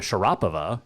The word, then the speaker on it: Sharapova: out because it's Maria Sharapova or actually Maria Sharapova is the correct pronunciation but Sharapova and yet it's not a